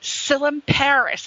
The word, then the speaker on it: Tsilimparis: we want this guy his name is Adonis sillim Paris and I hope I didn't butcher it because it's a beautiful Greek name with the silent T and I hope I